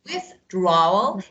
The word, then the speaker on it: withdraw: withdrawal withdraw ISB and withdraw and you know this uh distress is on the second syllable withdraw so withdrawal withdraw okay